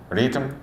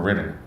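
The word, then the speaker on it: Rytm: is analog rhm uh did I pronounce that right Daniel analog RM or Rhythm Rhythm Rhythm you can you can it's rhythm is fine okay cool I'm using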